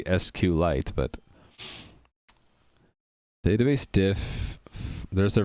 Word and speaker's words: SQLite: The way it's spelled, capital S, capital Q, capital L, lowercase ite, makes me think it should be SQLite, but database diff, there's their version control software.